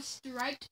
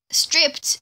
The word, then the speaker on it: stripped: Oh, striped oak. Planks. Stripped. It's called pronounced stripped.